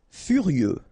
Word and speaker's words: furieux: complet à temps complet furieux ok x not pronounced furieux furieux génétiqu génétique